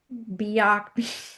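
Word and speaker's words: Byock: Ira, I believe you pronounce it, Bak Bio, Bio like be ready, be organized, whatever it was.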